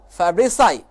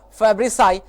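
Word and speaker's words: Fabricius: person Zyra Lama Fabrice I said Alamo Fabrice I so this is correct pronunciation students cyril amo Fabrice I first time he discovered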